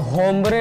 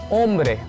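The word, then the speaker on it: hombre: एल एस उन बुएन ओम्ब्रे, अब यहाँ पे होम्ब्रे नहीं बोलेंगे, एच साइलेंट होता है ना। एल एस उन बुएन ओम्ब्रे।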